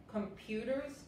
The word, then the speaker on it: computer: Esto se pronuncia computer, no hay computer. Es como si tuvieras la E enfrente de la U. Computer y la U en inglés nunca es fuerte. Nunca. Ustedes cuando pronuncian la U viene de aquí, la U.